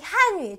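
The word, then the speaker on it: 韩语: 세게 발음해 주시면 되고요 얘는요 우리 올라가요 한위 어 저는 이거를 이렇게 설명드릴게요 어 우리는 점점 발전하고 있죠 발전 속도가 빠르죠 그래서 올라간다 이성이다라고 기억하시면 뿌듯하겠죠 대한민국네 한위 다시 한위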